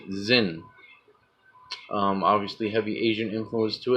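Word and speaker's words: Xyn: the Zen Trade Federation X Y n that's how you pronounce it Zin obviously heavy Asian influence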